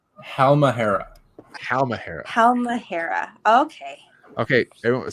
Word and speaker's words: Halmahera: So Halamera. Did I say it right? Halamera? Look at his face. This is painful. Say it, Steven. Say it. Halmahera.